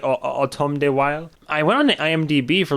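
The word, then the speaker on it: Autumn de Wilde: direct automata why automata wild I believe it's how you say his name or be weird to be like autumn D wild but I believe it's like autumn day while I went on IMDB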